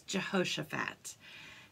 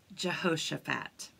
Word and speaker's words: Jehoshaphat: and his name is a little hard to pronounce but his name was Jehoshaphat try to say that with me Jehoshaphat it's really complicated but it's okay if you